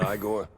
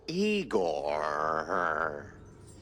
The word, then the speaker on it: Igor: Igor, not Iiggore. No, Eigor. Why so many Rs? It's harder to pronounce, as the classics would say.